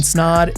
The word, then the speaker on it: Snod: My name is Ryan Snod. It Rhymes with Odd, and you're listening and watching the Rhymes with Odd podcast.